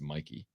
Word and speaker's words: Mikey: right by the way the actress's name is not Mickey it's Mikey Mikey Madison think her name is